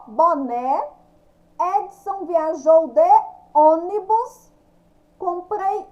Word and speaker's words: boné: O mecânico sujou o boné. Boné, ó, o né. Quando eu falo né, eu abro a boca, né? Sai o som aberto.